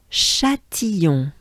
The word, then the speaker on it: Châtillon: So we have A, we have the banana smile, I, that goes into a ya. So it's I, and then it goes into a on. So it's yon. So it goes into Ion. And this one actually will not be shortened. It's going to stay as a Ion.